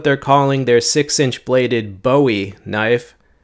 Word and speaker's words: Bowie: This is what they're calling their 6-inch bladed Bowie knife. That's how they pronounce it in their video.